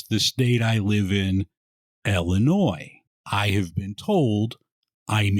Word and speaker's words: Illinois: From Chicago, Illinois, welcome to Beer in Front.